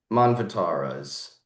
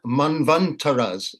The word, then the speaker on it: manvantara: Um, so, um, so there have been, from my understanding, seven manvataras since the last time the universe was destroyed and created. There Uh, are, there are 14 manvantaras. That's the correct pronunciation.